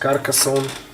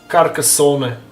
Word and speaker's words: Carcassonne: How is it pronounced? Carcassonne. Yeah, it's Carcassonne.